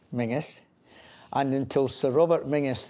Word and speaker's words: Menzies: And locally, it's pronounced Mingus.